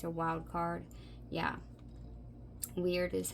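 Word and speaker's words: Wyrd: Weird is how you pronounce it.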